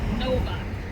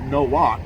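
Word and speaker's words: Nowak: Novak. Huh? Novak. Novak? Novak? Novak. Novak. N-O-W. Okay, yeah, because your camera's hiding your name. And I would have pronounced it no walk.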